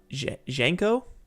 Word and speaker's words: Janko: out by the way the a in junko is pronounced like mango uh Janko Janko Janko pronounce like mango a blender learning mango